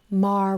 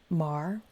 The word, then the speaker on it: Maher: Mar Rhymes with Jar going to Washington. This is Real Time with Bill Maher rhymes with jar.